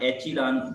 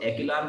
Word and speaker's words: echelon: अच्छा, हो सकता है स्पेलिंग में आप एचिलान बोल रहे हो, नजर आ रहा हो, तो बरल मैंने इसको एकिलान फॉर्म पढ़ा है, मैं एकिलान कहता हूँ. एचिलान कह सकते हैं, तो इट्स ओके, आप चेक कर लेना इसकी pronunciation. Generally speaking, the echelon system